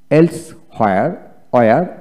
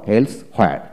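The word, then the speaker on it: elsewhere: আপনার দুইটা উচ্চারণই মনে রাখতে হবে যদি ইংরেজিতে কথা বলতে চান। তারপর নো ওয়্যার আবার নো হোয়ার। এলস ওয়্যার আবার এলস ওয়্যার আবার এলস হোয়ার।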